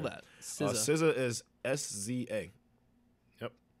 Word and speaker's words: SZA: SZA is S-Z-A. Yep. It's like season? Season, sort of. Yeah, without the N.